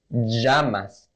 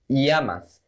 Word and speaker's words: llamas: First, the first pronunciation. In English, this sound is this sound, the J sound. So we would say llamas. But if we're talking fast, if we want to pronunciate as a native speaker talking fast, we would pronunciate it as llamas. Llamas.